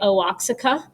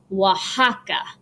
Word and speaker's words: Oaxaca: city in mexico and all my students generally want to say oaksica but you pronounce it like this oaxaca like the eight the x is a h sound okay so x at